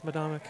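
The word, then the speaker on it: Medomak: I think it's Medomic. It is Medomic.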